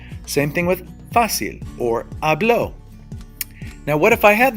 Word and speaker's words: hablo: of my voice is on the second-to-the-last therefore it would be hablo yo hablo so if I'm reading a book and it says yo hablo espanol yo hablo happiness then I know that it's pronounced hablo instead of hablo because that's the natural rule now if I wanted